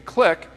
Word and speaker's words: clique: is the maximum clique it's pronounced differently sometimes click sometimes click okay but click is the more generally use term a click you